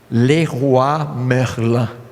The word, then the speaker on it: Leroy Merlin: riccó eu não sei falar francês aqui tem leroy merlin sabe como é que pronuncia porque eu venho francês eu conheci ele sabe como é que pronuncia isso francês le ruah merla lei rua merla ae bom já deu uma